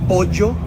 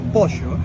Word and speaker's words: pollo: In Colombia, we have a phonetic effect called J'ismo, in which when we have 2 L's together, we pronounce it as G It happens with pollo, it's not pollo.